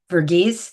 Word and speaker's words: Verghese: Verghese. Verghese Yeah.